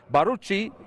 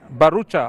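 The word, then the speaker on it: Bharucha: move on goes again baruchi of Bollywood Fame and barucha I beg your pardon it goes to Dilan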